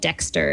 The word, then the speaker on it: Dextr: Okay, so this is a great one for Android users, and it's an app, and it's called Dexter. It's spelled Dextr.